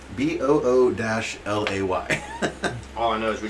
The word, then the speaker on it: Bulette: Bullet. Wow. Bull, Boul- I think it Boulette. says yeah. It's B- French. the Bullete pronounced BOO-LAY.